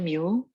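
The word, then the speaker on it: μ: Ini bacanya mu.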